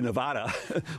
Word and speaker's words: Nevada: Well, since Nevada actually means a snowfall in Spanish, and that's the name of the state, it should be Nevada, but I guess the Anglos who settled Nevada decided to change the pronunciation.